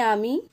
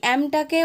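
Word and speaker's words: I'm: আই অ্যাম very unhappy, আই মানে আমি, অ্যাম মানে হই, এই অ্যামটাকে ওরা অ্যাপোস্ট্রফ এস দিয়ে ছোট করে লিখেছে, এটা উঠে গেছে সেক্ষেত্রে, তাই এটার উচ্চারণ হবে আম, অ্যাম ভেরি আনহ্যাপি।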